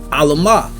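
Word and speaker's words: עלמה: All right, that word virgin is pronounced as Alamah.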